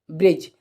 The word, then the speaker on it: bridge: BRIDGE ब्रिज। तो ब्रिज में देखेंगे आप क्या होता है, यहाँ पर देखें कि जी से पहले क्या है, डी, तो डी हो जाएगा साइलेंट।